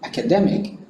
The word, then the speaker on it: academic: please be reminded that the term is pronounced as academic so the stress is on the third syllable when you were all